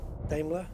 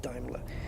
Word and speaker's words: Daimler: automobile uh from 1897 damler was it damler or Ben's back then I can't remember one of the two and I've said it again it's damler it's Daimler it's pronounced Daimler yeah so it's it's